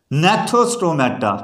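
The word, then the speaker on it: Gnathostomata: हमने नाम दिया है जी साइलेंट है नेथोस्टोमेटा, क्या नाम दिया, क्योंकि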